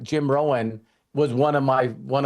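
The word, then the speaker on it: Rohn: And for those of you that don't know who Jim Rowan is, and his last name is spelled R O H N, um, is he was also Tony Robbins.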